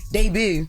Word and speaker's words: debut: and she was in uh she made her debut in one of the Tyler Perry movies if I'm right. Debut. Okay. What you about to say? The back is de I know how it's spelled, but it's it's pronounced debut.